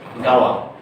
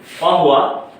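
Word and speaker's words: قهوة: কিন্তু লোকাল আরবিতে এই যে কহওয়াতুনের যে কফটা আছে, এই কফটাকে কফ উচ্চারণ করে না, এটাকে উচ্চারণ করে গ। তো অতএব লোকাল আরবিতে কি বলবে? গাওয়া। কহওয়া, কিন্তু ওই কফটা কি হয়ে গেছে? উচ্চারণে গ হয়ে গেছে।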